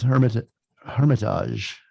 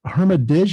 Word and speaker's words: Hermitage: His new album is Hermitage. Wait, let me do that again. So I looked up, it's Hermitage or Hermitage? I always say Hermitage.